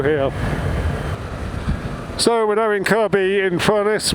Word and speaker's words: Kirkby-in-Furness: So we're now in Kirkby-in-Furness with a silent second K, and here is Moreland's service station, which is where Aussie Moto had his surgery.